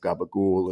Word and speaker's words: capicola: northern Italy, and some capicolas and things like that, which of course will then sopranoize back to their Italian American Neapolitan pronunciations of gabagool and gabacola.